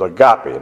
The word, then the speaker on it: agape: one that's translated love in the Bible is agape. That's spelled A-G-A-P, like Paul E.